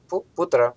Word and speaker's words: путра: Значит, значит, в словах из двух слогов ударение всегда падает на первый слог. То есть, что получается? Ударение куда? На первый, на пу. Путра.